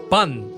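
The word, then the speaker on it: パン: Por eso se pronuncia pan, igual que en castellano, del portugués pão, solo que adaptado para podar esa extraña vocal inexistente en la sencilla fonética japonesa.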